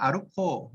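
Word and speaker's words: ArUco: 이걸 어떻게 읽어야 되느냐 외국 사람은 루코 이렇게 발음을 하던데 그냥 우리말로 우리 한국식으로 하면 아루코 이렇게 하시면 돼요.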